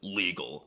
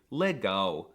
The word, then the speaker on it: legal: weren't calling him Lauren the L is also quirky because it's often pronounced as a w like in the word legal well it looks like it should be pronounced legal but it's actually Lego another example is Brazil